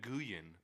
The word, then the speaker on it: Nguyen: name is- It's Dong Nguyen. that's Win. That's And pronounced Win. It's Win. Dong Win. Dongwin. Dongwin. Yeah. Okay, I guess Downwind. NG together is a W.